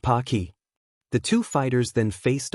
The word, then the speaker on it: Pocky: A third person thought as he munched away on some pokey Japanese taffy pronounced pocky.